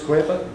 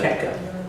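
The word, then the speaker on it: Koepka: Yep, Brooks Quaper. Is that how you pronounce it? Kepka. Correct. I do, I also.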